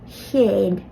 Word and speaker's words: chéad: But an H was added after each of the C's. That changes the sound from céad to chéad.